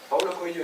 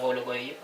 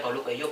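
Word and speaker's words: Paulo Coelho: Latina había sido invitado Pablo coello y que no sé muy bien nunca sabido real se pron Paulo coello Paulo coelo tamb lo digo es la pronunciación de ese dígrafo en portugués muy complicada es muy complicada No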